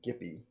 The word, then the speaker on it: Gipi: It's um I don't know if I'm pronouncing the guy's name right. I've been calling him Gippy, French artist.